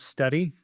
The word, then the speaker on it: Stedi: I'm the founder and CEO of Steady. It's spelled spelled S T E D I.